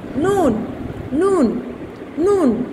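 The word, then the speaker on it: ن: উপরের তিনটি দাঁতের, নুন উপরে তিনটি দাঁতের গোড়ার সংলগ্ন, তালুর সাথে জিহ্বার অগ্রভাগের কিনারা লাগাইয়া নুন কি হবে? উচ্চারিত হবে নুন নুন নুন।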